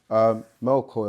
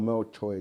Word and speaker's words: Melchior: Then the third one, Melchior or Melchoi, depending on how you pronounce it, which means a king of light.